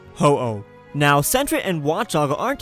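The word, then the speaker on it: 鳳凰: a doubt based on the Japanese Phoenix pronounced in Japan as hoo now CET and watchog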